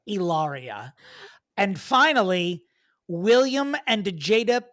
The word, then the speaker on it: Hilaria: Hilaria Baldwin with Deanna Chang. She would cut her throat if she heard her name being pronounced like that. It is Ilaria.